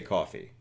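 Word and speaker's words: Ko-fi: because uh the the coffee website is spelled like kofi kingston but it the intent is to give somebody enough money to buy a coffee so i say coffee oh i i literally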